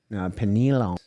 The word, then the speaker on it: pineal: So then you could even talk about pineal. Which pineal isn't even... Pineal, that's how you say it.